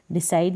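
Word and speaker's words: decide: सी आई को साई और डी को ड, लास्ट में ई है, इसको प्रोनाउंस नहीं करेंगे।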